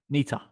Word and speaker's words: Neter: how do you pronounce how do you pronounce your surname nita nita um look up neeta that's uh s-a-m-n-e-t-e